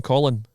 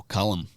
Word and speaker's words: Callum: Callum Taran Callum Callum you're saying Colin no Callum Callum Callum Callum Taran